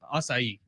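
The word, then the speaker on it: açaí: say it aacu aable it's asai assai this dude won't even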